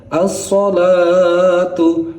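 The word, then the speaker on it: الصلاة: Lalu contoh selanjutnya ada asalatu. Asalatu kalau kita di azan subuh itu kan ada asalatu khairum minan naum. Jadi alnya itu adalah alsyamsiyah atau matahari. Al yang samar-samar.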